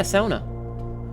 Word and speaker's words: sauna: Yeah, sauna. And yes, I pronounced like a fin.